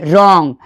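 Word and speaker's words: wrong: जिस भी शब्द का स्टार्टिंग डब्ल्यू आर से होगा डब्ल्यू का आवाज निकालना ही नहीं है। डब्ल्यू आर ओ एन जी क्या पढ़ेंगे? रॉन्ग मतलब गलत।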